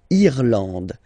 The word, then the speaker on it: l'Irlande: Irlande. Irlande. Okay. A-N, en, D, and final E, not pronounced.